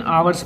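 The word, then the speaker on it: hours: देखो इसको हावर्स लिखा रहता है लेकिन आवर्स पढ़ा जाता है, एच इसमें साइलेंट होता है, इसलिए ओ जो है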